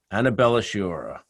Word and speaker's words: Annabella Sciorra: Annabella Shura, please welcome her.